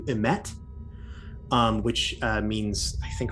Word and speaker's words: emet: The first is that on its forehead could be written the keyword that would be pronounced something akin to emet, which means, I think, like truth or something.